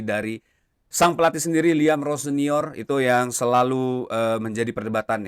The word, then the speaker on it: Rosenior: Penyebutan nama dari pelatih baru Chelsea ini adalah Rossonier. Jadi itu konfirmasi langsung dari yang bersangkutan ya. Ayah saya mengucapkan Rossonier dan itu adalah pelafalan